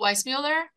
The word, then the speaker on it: Weissmuller: Oh, Weissmuller?